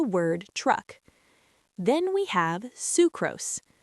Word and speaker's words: sucrose: Then we have sucrose. This one is pronounced sucrose, again with a long oo sound, like in Sue.